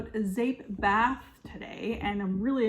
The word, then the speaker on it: Zeep: So everything today again is about Zape bath, and Zape is pronounced Zape. It's spelled Z-E-E-P and it means soap in Dutch.